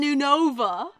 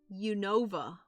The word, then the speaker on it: Unova: Unova. Unova. U from United States. You know, and Nova from Northern Virginia.